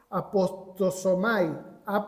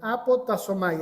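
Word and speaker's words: ἀποτάσσομαι: La palabra completa es apostosomai, perdón, apotasomai.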